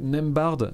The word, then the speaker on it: Nembhard: Au poste d'arrière, Buddy Hield, Bénédicte Mathurin, Andrew Nembhard. C'est comme ça qu'on prononce, Cam?